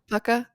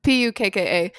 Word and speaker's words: Pukka: Do you know how to say this brand? Puka? No. Pucka? I don't know. Pukka.